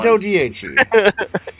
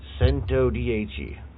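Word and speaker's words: Centodieci: I actually learned how to pronounce this. Sento dich. That's that one. Sento dhe.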